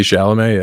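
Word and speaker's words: Chalamet: Pronounced that correctly. Timothy Shalamé.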